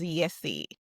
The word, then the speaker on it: IESE: Well, it's pronounced as Yesi.